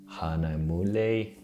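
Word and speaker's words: Hahnemühle: to be printed on hanamule paper which is like a german word i was just referring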